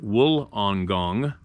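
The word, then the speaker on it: Wollongong: as I type this walang gong pronounced wool on gong is the major city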